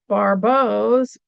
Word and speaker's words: Barbault: It's barau. That word up there. Oh, it's over there. That's spelled uh barbo. I have this on mirror so I don't know which side is which. Um, it's not a barbell.